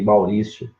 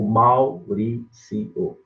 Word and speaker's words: Maurício: O mesmo também acontece com o seu segundo nome aí, Maurício. Maurício. Ou Mauricio. As duas divisões são corretas. Divisões e pronúncias, né? Você pode pronunciar dos dois jeitos.